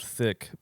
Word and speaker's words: Thique: But anyways, I had no idea that Beyonce had a song called Thick, but it's spelled THIQUE.